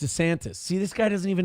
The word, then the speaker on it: DeSantis: a low-cost immigrant detention camp built by Ron DeSatan in the Florida Everglades. It's pronounced DeSantis. See, this guy doesn't even know the people he's talking about. He called him Ron DeSatan.